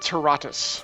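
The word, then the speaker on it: Terratus: Is it Taratus? Taratus? I pronounce it Taratus.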